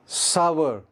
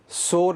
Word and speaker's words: sour: Next word, मीठे के बाद खट्टा, सावर, SOUR, सावर, सोर नहीं है, सावर।